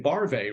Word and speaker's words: Barve: name uh by saying barvae rhymes with oy vey that's funny I love